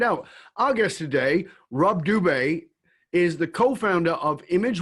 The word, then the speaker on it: Dube: Because your name is Dube, but it's spelt Doobie.